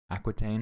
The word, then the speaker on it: Aquitaine: all right queen of france eleanor of aquitaine aquitaine right here is how you pronounce it was an extraordinary woman especially in